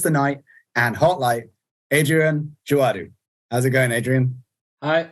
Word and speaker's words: Adrien Djouadou: you man good uh just to check did I did I get the pronunciation on your name remotely correct well I think so can you repeat it just I said Adrian joadu well honesty perfect ah wonderful that's a